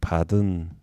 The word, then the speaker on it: pardon: 요게 영어로는 파든이 되겠습니다 파든 발음은 이제 오가 발음이 안 되고 파든 이렇게 발음이 되죠 그래서 파든 can apply